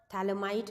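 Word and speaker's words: phthalimide: हैं that is Gabriel थैलमाई synthesis ठीक है थैलमाई के अंदर पीएच आपका साइलेंट होता है इट्स अ थैल इमाइड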